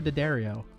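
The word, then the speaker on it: D'Addario: And she was like, it's like Hi Ho Daddario.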